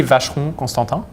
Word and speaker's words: Constantin: they really struggle with the of vegetable and at constant R is you know you stop you stop there within the last um and not an e at the end yeah another - man